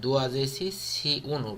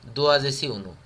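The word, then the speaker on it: douăzeci și unu: এখানে একটা কথা হলো, এখানে রোমানিয়ানরা উচ্চারণ করে, আমরা যেমন পুরাটা উচ্চারণ করি দোয়াজেসি সি উনু, রোমানিয়ান প্রোনাউন্সিয়েশন হয় দোয়াজেসি উনু।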